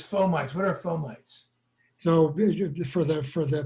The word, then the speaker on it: fomites: says fomites what are fomites so for the for the people who studied latin in college the word it's actually should be pronounced for middies but doctors are taught to pronounce it fomites and fomites are are